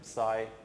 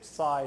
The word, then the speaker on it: psi: Some people say psi, some people say psi. I don't control when I say one or second. So psi and psi is the same.